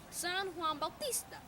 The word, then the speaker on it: San Juan Bautista: John the Baptist but is we pronounced in Spanish San Juan Bautista and it is settled winter solstice it looks like st.